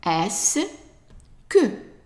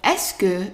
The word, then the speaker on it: est-ce que: So all of these 5 letters combined are pronounced S. S. And then the next one here, the U is silent, is que. Que. Because the E in French is pronounced E when it's attached to only one sound.